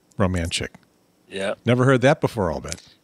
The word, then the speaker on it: Romanchik: It's pronounced Romanchik. Romanchik. As right. If like you're romantic, but Romanchik.